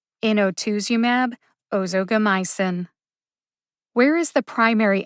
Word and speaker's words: inotuzumab: usp dictionary's pronunciation first in o2sumab ozogamycin is a two-word drug name there are five syllables in inotuzumab and five syllables in